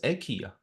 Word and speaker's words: IKEA: It's not pronounced IKEA, it's pronounced EKA.